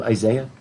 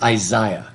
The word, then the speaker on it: Isaiah: british pronounce the name isaiah they say isaiah if you listen to that's how the british pronounce it today too isaiah but i